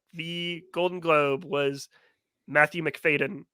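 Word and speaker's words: Macfadyen: Golden Globe was Matthew mcfaden for or faten fadan yeah you had you said it right the first time um for succession uh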